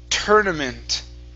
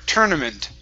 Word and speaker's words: tournament: emphasizing emphasizing good uh this word here is pronounced tournament okay instead of tour tournament it's tur tournament tournament tournament okay good very nice uh let's